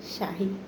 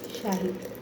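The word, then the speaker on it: شاي: বলবে জিবি শাহী ওকে তো চা আরবি উচ্চারণ হচ্ছে শাহী ঠিক আছে তো আমরা অবশ্যই বুঝতে পারলাম ভালো করে চা আরবির উচ্চারণ হচ্ছে শাহি ওকে আর ওরা কিভাবে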